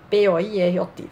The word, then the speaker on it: Poirot: Como eu não sei francês direito, né, deve ter pronunciado errado, para facilitar, eu chamo sempre de Poirot. P-O-I-R-O-T, facilita a coisa, Poirot.